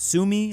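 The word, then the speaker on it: Suomi: Sumi, I guess, is how you say it in Finnish.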